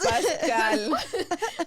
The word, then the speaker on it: Pascal: ped Pascal Pascal Pas pasal Pascal she's adding more letters Pascal like not Pasa Pascal um I loved him